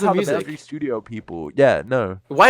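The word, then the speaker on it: µ-Ziq: pronounce it uq because it's like the Greek sign for Mew and then Z music that's how you say I thought I I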